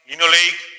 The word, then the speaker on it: linoleic: Always pronounce the way I am pronouncing: linoleic, linolenic, arachidonic.